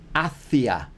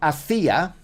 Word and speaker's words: hacia: Julia entró en la universidad y fue hacia. Not hacia, which means something completely different, like made, right? But this is went towards. So this is a really important pronunciation difference.